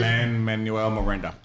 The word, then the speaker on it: Lin-Manuel Miranda: Lin-Manuel Miranda. Miranda. Like Miranda writes.